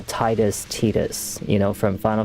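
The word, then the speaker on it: Tidus: It just It's like when people call Titus Tetus, you know, from Final Fantasy 10, people are like, "Oh, Tetus this." I'm like, "It's Titus. It's Titus. It's not Tetus."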